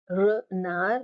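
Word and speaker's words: renard: and you have a the D is silent RAR which means a fox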